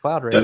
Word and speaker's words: Cloud Raker: I was going to say Raker for some reason. I think that's how you pronounce it, Cloud Raker. That is correct.